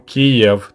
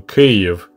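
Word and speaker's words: Kyiv: a hard time switching from kiev to cave which is a ukrainian way of pronouncing the name of the capital so with all that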